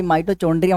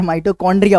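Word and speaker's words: mitochondria: माइटो, भाई माइटोचोंड्रिया मत बोले यार, माइटोकॉन्ड्रिया होता है।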